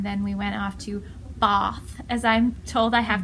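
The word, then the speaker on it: Bath: I think and then we went off to baa as I'm told I have to pronounce it instead unless I'm from the north it's pronounced Botha so we were there for actually lovely town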